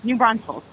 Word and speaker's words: New Braunfels: Is that how you pronounce it? Yeah. New Braunfels.